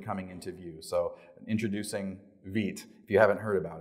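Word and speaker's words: Vite: into view so introducing Veet if you haven't heard about it um it's pronounced David it's French for fast as Evan U has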